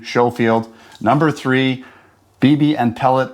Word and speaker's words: Schofield: with another field test shooting video for the Showafield, not the Scullfield. Consensus was it's a silent K. That's the pronunciation. Showfield number three BB and pellet revolver CO2 revolver.